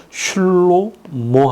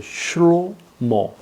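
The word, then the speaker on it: שלמה: 를 파란이라고 해요 그다음에 솔로몬을 히브리어는 슐로모 합니다 슐로모 로모 말카 말카이 여왕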